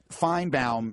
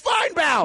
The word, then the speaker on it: Finebaum: Like Finebaum is Finebaum, right?